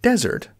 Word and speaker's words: desert: So desert with a z sound, z, is dry, sandy land.